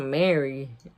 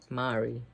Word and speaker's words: Mari: I want to say Mari like in Spanish because it's spelled Mari. It could be Mari, so but it's not Mary. Mari. Okay.